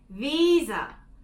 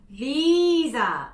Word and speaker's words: visa: 호주식 비자 발음은 visa, visa 이렇게 되는데요. V를 발음하시는 게 많은 한국분들이 어려워하시는데 V를 하실 때는 살짝 섹시한 척을 하셔야 되세요. 이 두 이빨로 이 아랫입술을 깨무시면서 visa 이렇게 하면 좀 더 잘 되고 visa 할 때는 입을 오므려줘서 영을 만들어주세요.